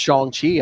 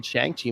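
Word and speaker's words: Shang-Chi: good especially you know i learned that it's pronounced shang chi i i pronounced the chiang chi my whole life anyway um did they kind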